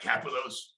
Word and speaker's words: Kapelos: Did I say that right, Kapelos?